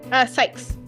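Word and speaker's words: Cykes: Also, before I do this line, how is the last name pronounced? Sykes.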